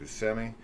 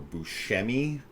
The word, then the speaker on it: Buscemi: serial killer played by Steve Buscemi, or Buscemi. Yeah. I hear it pronounced Both a lot ways. of different ways.